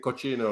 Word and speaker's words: cucina: Is it cucina or something?